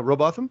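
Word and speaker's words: Rowbotham: Am I pronouncing that right? Yeah, Robotham.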